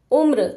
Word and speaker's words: उम्र: के नीचे लगी है तो जो र का उच्चारण होगा वह इस म के बाद आएगा रेफ की मात्रा में बीच में आ रहा था लेकिन पदेन की मात्रा में म के बाद आएगा उम्र और यह म का उच्चारण छोटा होगा आधा म उम्र व्रत व और